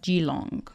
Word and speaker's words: Keelung: city so it's called its spelt Keelung but I believe it's pronounced Geelong okay so I want